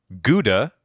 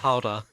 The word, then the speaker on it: Gouda: And my favorite thing that the tour guide said was or Gouda, as you might know it, No. Howda.